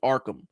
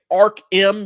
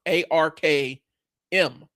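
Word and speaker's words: Arkm: And I'm saying Ark-M because that's how it's spelled. A-R-K-M. Ark-M. I know I say Arkham Asylum, but this is not Arkham Asylum. This is Ark-M.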